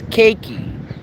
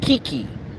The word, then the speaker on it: Kakei: to pronounce my name it's kakei not Kiki kakei so ladies and gentlemen